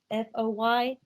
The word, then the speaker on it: Foy: I'm not sure if I'm pronouncing his name right. Am I saying it right? Foy, F-O-Y?